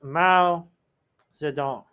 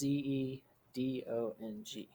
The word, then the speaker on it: Mao Zedong: And his name is Mao Zedong. Now that can be spelled and pronounced a bunch of different ways, so I'm just going to give you one.